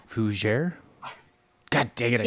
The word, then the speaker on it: Fougere: It is Fougere. Fougere? God dang it! I said it wrong, didn't I? Did I say it right? All right, good. All right, perfect. I try to pronounce the G.